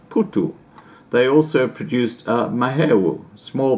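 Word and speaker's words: phuthu: they cooked up crumbly porridge called upudu or pronounced putu they also produced mahawu small beer by fermenting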